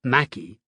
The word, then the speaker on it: Mackay: John McCay, pronounced Mackey, and his partner Jack